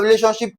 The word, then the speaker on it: relationship: Now, to stress a relationship, we're going to place the stress on the third syllable from the last.